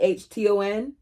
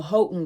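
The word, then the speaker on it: Houghton: Alexa, how do you pronounce H O U G H T O N. I pronounced that Hton. Alexa, stop. Like the H Hotton girl's mother, Martha, who sort of adopted me too.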